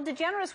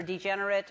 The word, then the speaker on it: DeGeneres: Well, DeGeneres was hard for people to get for a while. What did they do? DeGeneres or degenerate or, like, you know, lots of other things. And you stayed strong. DeGeneres.